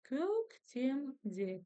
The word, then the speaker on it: Көктемде: Көк, көктем, көктемде. Көктемде. Ударение на слог де.